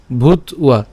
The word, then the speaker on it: ভূত্বা: কেন ভূত্বা? এই যে এখানে ব আছে, কি ব? এটা অন্তস্তব। অন্তস্তব থাকলে আমরা জানি যে উচ্চারণটা কার মতো হবে? উয়ার মতো হবে। তাহলে এখানে উচ্চারণটা কেমন হচ্ছে? ভূত, তারপরে হচ্ছে উয়া, ভূত উয়া।